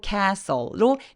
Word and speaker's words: castle: 성이요 거인에 상할 때 cle 아니고 Castle 발음이 삭제되는 그냥 법칙이 있습니다 그래서 요런 스일 때 cle Castle이라고 발하는데요 그다음에 high above the